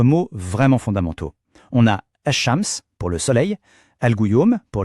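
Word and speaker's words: الشمس: En arabe, on dit ash-shams. Écoutez bien la prononciation, ash-shams.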